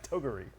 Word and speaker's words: Toguri: Toguri. No, I think that's the correct pronunciation. Okay, that one was right? Okay. That is now canon.